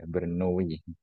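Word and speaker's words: Bernoulli: tahu ber apa ber kalau gak salah cara bacanya ituwi bukan Kak iyawi Berni Berni dia juga Sama ya matematika juga ingat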